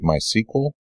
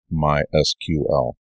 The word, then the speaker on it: MySQL: hear some people say my sequel but officially the documentation is pronounced my SQL so there's this official